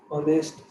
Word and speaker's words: honest: and for nouns where the starting letter h is not pronounced and second letter is an honest man right just like